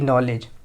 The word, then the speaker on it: knowledge: नॉलेज में क्या होता है? के साइलेंट होता है। KNOWLEDGE, नॉलेज, general नॉलेज।